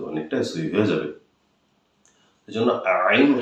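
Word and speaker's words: عين: ইনশাল্লাহ আপনার সহি হয়ে যাবে ইনশাআল্লাহ এই যে আইন আইন জবর আইন জের ই আইন পেশ উই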